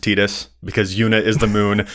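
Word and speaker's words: Tidus: there, we know that it's supposed to be pronounced Tetus because Yuna is the moon and Tetus is the sun. Like we understand we will apologize. We're going to end up defaulting to Titus a lot and I think a lot of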